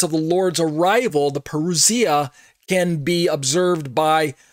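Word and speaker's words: παρουσία: The coming of the Lord, when I say the parousia, some people say parousia or something like that, but I believe the Greek is pronounced parousia.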